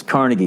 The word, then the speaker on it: Carnegie: PE the Peabody theater it's like when you when you're in New York it's Carnegie Hall and when you're in Pittsburgh it's carnegi all right when you're in